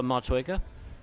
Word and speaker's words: Motueka: Pronounce those hops again? Motueka.